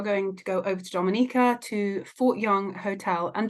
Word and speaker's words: Dominica: this is an introduction to the destination of Dominica oh we call it Dominica it is spelled d-o-m-i-n-i-c-e it is not Dominican Republic it is pronounced Dominica and it's situated